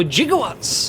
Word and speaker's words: gigawatts: 1.21 gigawatts, or gigawatts as Doc Brown would say. Funnily enough, that was originally the correct pronunciation. It comes from the Greek root gigas.